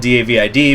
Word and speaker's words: David: I know it's spelled D-A-V-I-D, but that is how it's pronounced in French.